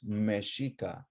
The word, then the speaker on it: Mexica: in meshika or meshiko their exes as we'll learn today were often pronounced as shashiko right which turns into Mexico a lot of the X's turn into J's so it's no longer